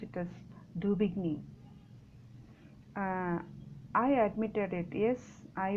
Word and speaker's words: Daubigny: Daubigny, the pronunciation is Daubigny.